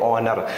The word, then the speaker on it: honour: और एक और आप लिख सकते हैं ऑनर, HONOUR, यहाँ पर H साइलेंट है, ठीक है, तो ऑनर।